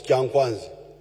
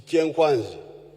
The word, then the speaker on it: Kyankwanzi: When you hear this chenkwanzi, which the Waganda mispronounce as kyankwanzi, it is chenkwanzi.